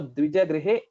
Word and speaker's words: द्विजगृहे: So only thing is dvijagrihe, we shouldn't stress for gr. Okay, it is a swarakshara only, grihe. So dvijagrihe, it should be quite normal. There is no stress on gr.